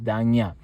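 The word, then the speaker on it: ዳኛ: An example of this sound is the word for judge, danya, which is pronounced as danya.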